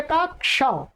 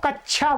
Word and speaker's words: कक्षा: जैसे आप देखेंगे यहां पर ये क्या लिखा हुआ, क्ष, क्षत्रिय का क्ष। इसका बहुत उच्चारण अशुद्ध लोग बोलते हैं, क्या बोलते हैं, कक्षा को कच्छा बोलते हैं क्या बोलते हैं, कक्षा को कच्छा, और क्षत्रिय को क्षत्रिय बोलते हैं।